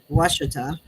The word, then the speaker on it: Ouachita: Well, with my experience, first I went to Lake Ouachita, and that's how you say that. It doesn't look like that, but that's how you say it.